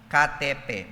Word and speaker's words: KTP: They called it katepe but it's spells as KTP. Sa ating KTP but they pronounce this as katepe.